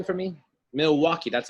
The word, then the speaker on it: Milwaukee: Milwaukee, that's how you pronounce it, Milwaukee.